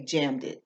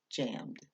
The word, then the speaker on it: jammed: Because you don't need to put emphasis on that ed at the end. You don't say jammed it. It's just jammed.